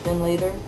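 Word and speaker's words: Findlater: have another town and it's pronounced fin later but it's written out like fine later it's like oh we'll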